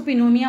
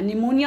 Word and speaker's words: निमोनिया: निमोनिया हो सकता है, इसको पिनोमिया मत पढ़ लेना, निमोनिया हो सकता है, और मिनिगिट्स हो सकता है।